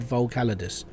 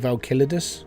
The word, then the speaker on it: Volcalidus: I was pronouncing it wrong for like weeks. And then whilst I was recording my videos, I basically forced myself and over again practiced the word Volcalidus.